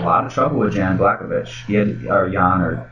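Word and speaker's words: Błachowicz: But if I say it like Blachowicz, that's it sounds a little bit more what's Slovakian. But if you say Blachowicz, that sounds more Polish. It means Polish.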